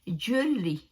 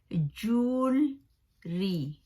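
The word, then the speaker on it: jewellery: तो ये इसका जो है वो रॉन्ग इसका प्रोनाउंस है इंग्लिश में। इंग्लिश में जो इसका सही जो प्रोनाउंस है वो है जूलरी, जूलरी, ज्वेलरी नहीं है, जूलरी, जूलरी।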